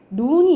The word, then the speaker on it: 눈: 그래서 특히 소리의 길이는 이렇게 해보면 눈이 있어. 짧게 발음하는 눈이 있고 길게 발음하는 눈이 있어요. 우리가 사람 눈이 있고 내린 눈이 있잖아. 뭘 길게 발음하니? 눈으로 눈을 본다야. 내리는 눈을 길게 발음해요.